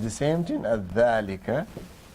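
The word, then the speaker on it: ذلك: He said, dhalika is pronounced dhalika, but it's written without the alif.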